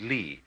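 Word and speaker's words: 理: Good judge in the law courts and this word uh like this you know um is pronounced lee.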